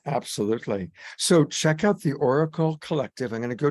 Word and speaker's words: Auricle: And that's spelled AURICLE Collective, Oracle Collective.